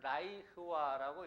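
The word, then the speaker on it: לַיהוָה: 근데 여기서 보면은 그 여호와의 절기라고 했는데 그 여호와에 해당되는 그 히브리어는 라이흐와라고 이렇게 발음을 합니다.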